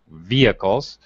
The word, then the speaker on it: vehicle: Anyway, let's try a few sentences that have to do with vehicles. Is it vehicles or vehicles? That depends where you're from. Okay. Americans definitely say vehicles with a silent H.